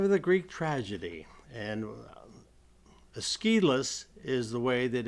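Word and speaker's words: Aeschylus: of the father of the Greek tragedy and esus is the way that it's pronounced often considered the father of the Greek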